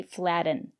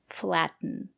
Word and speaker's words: flatten: we have these words we pronounce the letter t t as a stop T cotton button kitten written flatten and that's why we don't say flatten you use it to flatten your pastry we say flatten thank you for watching